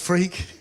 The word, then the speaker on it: Freke: So my name really is pronounced Freke. And if you can get through school with a name like Freke, you can get to do this.